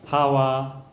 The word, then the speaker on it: 하와: 아담과 하와 뭐 그 이브라고 하는 것도 다 이제 언어권에서 발음이 다른 거지 같은 말을 가지고 하는 거예요. 어 하와 해바 이브 같은 그건데 이제 그 하는 사용하는 언어에 따라서 이렇게 다르게 발음하는 거예요.